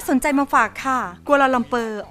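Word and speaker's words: Kuala Lumpur: ใจ มา ฝาก ค่ะ กัวลาลัมเปอ ออก เสียง ภาษา มาลายู ว่า กลลม ปู เป็น เมือง หลวง ของ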